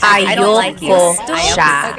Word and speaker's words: ayoko: a friend if you usually it's pronounced ayoko siya. So if you want to sound a little bit more natural, put everything together.